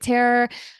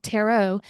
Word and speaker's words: tarot: a little bit of spirit Terror I keep saying Terror I I pronounce everything wrong tarot um human design astrology